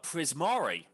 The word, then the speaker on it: Prismari: Uh Glump's college of choice is uh Prisari. Is that how you pronounce? That's how you pronounce it, right? Prismari. Yes.